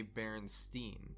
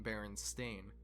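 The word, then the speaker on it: Berenstain: Baron stein bears well most people would say Baron Stein but actually it's always been Baron stain oh get dunked on idiots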